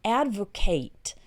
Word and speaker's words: advocate: as a verb and when it's used as a verb then it's pronounced Advocate okay Kate at the end instead of Kit so Advocate is uh